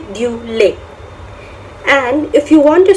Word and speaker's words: lait: Yes, T, obviously in French we do not pronounce the last letter, so it's pronounced as lait.